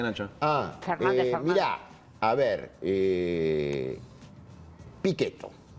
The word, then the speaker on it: Pichetto: Mirá, a ver, Pichetto, vamos a pronunciarlo en tano porque yo soy Sí. calabrés. Pichetto es un hombre que